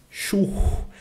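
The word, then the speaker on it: Schuh: palavras, h, mão e churro, tá? E lembrando que o s ch no alemão ele tem som de x, churro, e o h ele é soprado.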